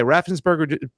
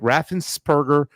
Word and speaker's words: Raffensperger: craziness going on uh and by the way raffensburg i want to say his name right raffensperger just won his last election too as well